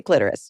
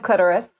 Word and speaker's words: clitoris: sure which is correct I've always said clitoris um I'm going to say clitorus just rhymes with Dolores like on that Seinfeld episode um so when you